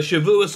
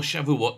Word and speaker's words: Shavuot: the jewish holiday of uh shavuous or shavuot depending on on what what type of uh what type of uh uh jew you are yeah how you say it now the the